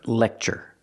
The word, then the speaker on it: lecture: Now, let's talk about this verb lecture. Pronunciation. Use the short e like 10 in red. Le. We have the c- sound plus the ch- sound. Lecture. Lecture.